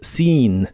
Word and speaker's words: seen: español en inglés es seen la doble e de es esta palabra se pronuncia como una I larga sin sin en este